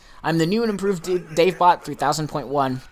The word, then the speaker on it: DaveBot 3000.1: DaveBot 3000.1. Greetings! I'm the new and improved DaveBot 3000.1. The point one is silent, so it's DaveBot 3000.